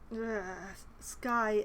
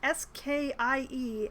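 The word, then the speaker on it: Skie: me find ski so Skye silver Shields killer let me prove my innocence please yes I do insist upon mispronouncing it because pronouncing s-k-i-e as ski is hurtful to my soul if you if you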